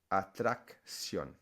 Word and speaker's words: atracción: So in that case, you would pronounce it action in English, and in Spanish, acción. Attraction, CT over here. Atracción.